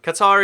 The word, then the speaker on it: Qatar: the capital city of Qatar so same or again Qatar is the generally said pronunciation but apparently the actual one is Qatar again say it how